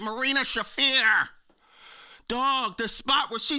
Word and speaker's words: Marina Shafir: Marina Share. I mean Marina Shafir. Remember last week I kept getting her name wrong. Well, I got it wrong again, but I'm getting it right. Marina Shafir.